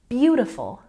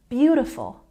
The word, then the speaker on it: beautiful: and next we have beautiful the apostrophe showing us that we've got a stress on the first syllable shown here nice and easy capital letters first syllable gets the stress beautiful beautiful once again beautiful in